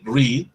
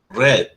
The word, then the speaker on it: read: parte inferior miren el read red sí ahí sí la pronunciación cambio por eso no está en la primera categoría el verbo lear tiene dos pronunciaciones read red bulls hell is hard